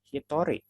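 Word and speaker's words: 一人: angka toh icd1o orang tapi bukan dibaca izin it dibacanya Hitori satu orang sama kayak dua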